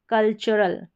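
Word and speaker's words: cultural: ये है CUL, ये भी स्पेलिंग पैटर्न, इसको कल पढ़ते हैं, जैसे यहाँ पर अब TU को च पढ़ा जा रहा है, कल्चरल, कल्चरल, इसको कल्चरल नहीं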